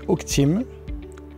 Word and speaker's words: Oakteam: gérant de la société h team donc ça s'écrit o a K T e a m comme le chîn en anglais et team comme une team on est si personnes